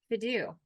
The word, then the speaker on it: Fidu: So let's talk a little bit, let's transition a little bit to Fidu. Did I pronounce it right?